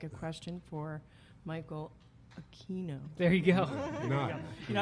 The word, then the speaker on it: Aquino: I'm telling you what my name is it's aino so that was my that was my nice way of saying my name is aino when they when they mispronounced it in uh